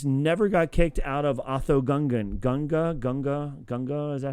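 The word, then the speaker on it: Otoh Gunga: But what if Jar Jar Binks never got kicked out of Otho Gunga? Gunga? Is that how you say it? I don't know how to say it. Oda Gunga. There you go, Oda Gunga.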